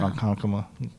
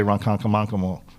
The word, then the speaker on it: Ronkonkoma: Ronkonkoma. If you're not from here, you'll say Ronkonkomonkamo.